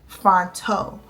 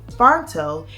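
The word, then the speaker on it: Phonto: And then I'll download it from DaFont, send it to the app Fonto. So yes, it's spelled P-H-O-N-T-O.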